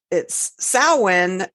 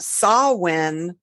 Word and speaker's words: Samhain: So, and it's actually, it's Samhain, but it's also pronounced Samhain, or in Scotland, I believe it's Samhain. Correct me if I'm wrong, listeners. But we here in at least our little Kevin, we pronounce it as Samhain. Samhain, or if you read it, it's Samhain. Or Samhain for those other Georgia people out there.